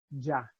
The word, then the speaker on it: ya: Or the word YA in Mexico, at least, is pronounced ja.